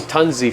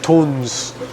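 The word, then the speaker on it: Tunze: I was saying Tunzi for a long time. This is what I would say even right now. No, So, they no? told me in Germany it's pronounced Okay. tons.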